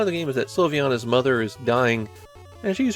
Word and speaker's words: Sylviana: We can be pretty confident how it should be pronounced, Sylviana, but is that first vowel an I or a Y?